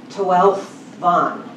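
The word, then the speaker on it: Tawelfan: Tawelvon. It's, you don't pronounce the F, it becomes a V.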